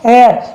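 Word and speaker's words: heir: एयर, क्या बोलते हैं इसे? एयर। इसे हेयर मत बोलना, ये एयर होता है, ठीक है।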